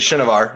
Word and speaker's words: Shinovar: Shane Chenevare, well, good job to you. And then, do you know who Vin Sanity is? It's actually Shinovar, if we want to pronounce it correctly.